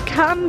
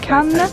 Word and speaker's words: Cannes: Is it can or cans? They say can, I think we say cans, because we pronounce the S.